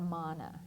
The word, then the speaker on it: mana: believed to possess something called Mana or mana and it's not like what you find in the Hebrew Bible that's spelled M N na a but this is with one n mana and what this is